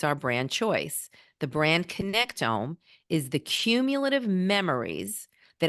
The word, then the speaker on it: connectome: Is that how you pronounce it? The brand connectome.